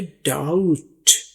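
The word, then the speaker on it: doubt: यहां बताते चले कि डाउट इसको डी ओ यू टी पढ़ना है। डाउट पी बी यहां पर साइलेंट है। इसकी कोई आवाज नहीं है। आपने डाउट बटन नहीं कहना। यह है डाउट। डाउट बी साइलेंट है।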